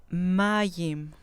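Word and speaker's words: מַיִם: Mayim, mayim, con acento en la penúltima sílaba.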